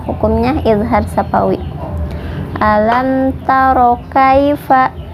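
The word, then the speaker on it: كيف: Ilham syafawi alam taro Kaifa khai ini dibacanya lunak karena hukumnya Lina daya sukun bertemu huruf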